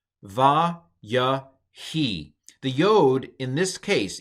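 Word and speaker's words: וַיְהִי: But anyway, so this whole word is pronounced va, ya, he. The yod in this case, in the Heuric yod case, the yod is not pronounced like a consonant.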